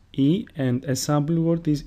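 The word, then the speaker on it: Ήτα: Eta, which is pronounced E, and a sample word is ήλιος, which means sun.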